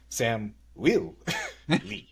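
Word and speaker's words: Samuil: But I It's funny how they say it because it's spelled S A M capital UI L. Sam Will. I said what I said.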